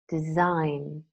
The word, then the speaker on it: design: the Oxford learners dictionaries silent G words nah known Nash benign malign sign design a line foreigner Dame